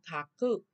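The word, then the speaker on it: 書く: Chữ thư thì chúng ta đọc là làm gì? Kakimasu, đúng không? Kaku.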